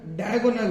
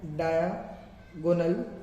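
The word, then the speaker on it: diagonal: Rhombus जो है कुछ इस तरह से दिखता है, जिसके अंदर डायगोनल होते हैं, डायगोनल, डाया नहीं बोलना है, डायागोनल नहीं बोलना है, डायगोनल बोलना है, डायगोनल, डायगोनल, डायगोनल नहीं होता, ये डायगोनल होता है।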